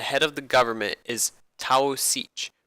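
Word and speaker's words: Taoiseach: of the government is Taos each pronounced t shucks which means chief the Taos each is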